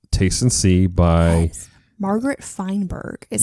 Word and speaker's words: Feinberg: So, you have the blog up of Taste and See by Margaret Feinberg is how you say her name.